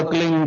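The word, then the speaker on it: क्लीं: की मात्रा और बिंदी, उसका उच्चारण होगा क्लीन गा, गा की ध्वनि निकलेगी पीछे।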